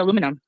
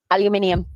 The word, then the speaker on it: aluminium: What about aluminum? Aluminium.